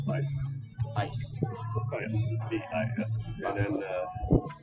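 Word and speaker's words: Ysse: And, two names, Vice, Y-S-S-E, it's pronounced Vice.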